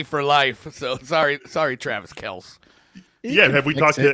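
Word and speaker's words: Travis Kelce: way everybody out there travis kels is how you pronounce his last name did his brother i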